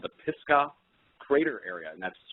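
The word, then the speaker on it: Pisgah: and I found out it was called the pisca crater area and that's spelled p i s g ah and it's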